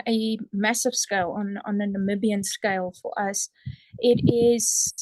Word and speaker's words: Namibia: So around this work you're doing down there in Namibia, how do you say that word exactly?